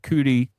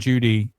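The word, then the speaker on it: Cudi: some pronounce it Mount CTI some pronounce it Mount Judy in the in the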